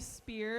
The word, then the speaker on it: Speer: my name is spear that is spelled s-p-e-e-r i emphasize that because i realize i have the name that sounds like a certain pop star uh hashtag free britney